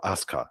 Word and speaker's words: Asuka: So yeah, her original name was Kana, and yeah, when she became a WWE superstar, she was known as Asuka, or Asuka is the way it's pronounced.